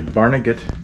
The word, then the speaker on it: Barnegat: here he comes so how do you pronounce this boat nag it's a it's a barnegat barnegat barnega bay barnegat bay new jersey barnegat